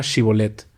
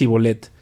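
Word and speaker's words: shibboleth: no no lo soy ellos le pedían que pronunciar la palabra chevolet si era de efraín dirías y volet porque a la gente de efraín le cuesta pronunciar bien esa palabra entonces se lo llevaban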